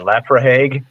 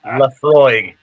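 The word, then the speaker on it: Laphroaig: because I had no idea how to pronounce it, and I was like, "What is that, Lafrahague?" And Yes. Yeah, exactly. no, it's Lafroig.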